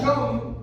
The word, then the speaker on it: Yom: Levítico 23, del 26 al 32, nos habla de la fiesta de Yom Kippur.